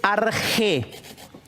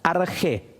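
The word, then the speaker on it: ἀρχή: las cosas se dice argé. Este CH, que en castellano puede ser la Q, ¿sí? Se pronuncia fonéticamente como una J, argé.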